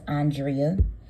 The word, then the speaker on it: Andrea: today with Carlos King and her name is pronounced Andrea but as she stated in the interview she